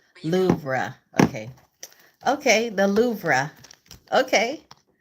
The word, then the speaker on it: Louvre: pronounced Louvre. Louvre. Louvre.